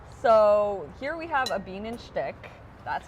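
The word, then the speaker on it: Bienenstich: all right okay so here we have a bean and stick that's how you pronounce it how is that spelled it's long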